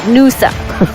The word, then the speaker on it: Nusa: Let's Lusa, my friend, not Lusa. Nusa.